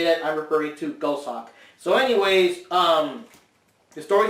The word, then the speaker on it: Goshawk: apologize um the character the name is actually pronounced ghost Hawk based on one of the cards in the back or whatever but um I always thought it was go shop just due to the spelling I always thought it